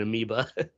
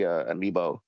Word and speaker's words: amiibo: Or how do you spell it? Amibo. Amiibo. I called it an amoeba.